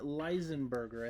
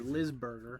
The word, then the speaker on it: Lisberger: And it was directed by Steven Leisenberger, I think is how you say it, or Lisberger.